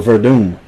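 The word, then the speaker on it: Werdum: Yeah, it's Fabricio Verdun. And uh spelled with a W though. Oh, but that's Brazilian.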